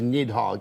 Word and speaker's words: Nidhogg: the New Year nidhog we are now of One mind that this is nidhog in pronunciation nidhog it's not nidhog you know I bet